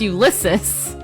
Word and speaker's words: Ulysses: In Homer's Odyssey, a Greek epic dating to at least 800 BC, before Christ, the hero Ulysses, I can't ever say his name, gosh darn it, it's Ulysses.